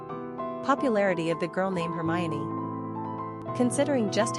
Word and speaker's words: Hermione: Pronunciation, Hermione. Simple meaning, the interpreter. Characteristics of Hermione.